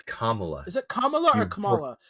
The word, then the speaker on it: Kamala: think of Kamala Khan but hers hers is Kamala the the emphasis is on Thea the first